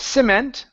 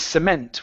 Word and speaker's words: cement: This word here, instead of cement, the word is cement with the stress at the end.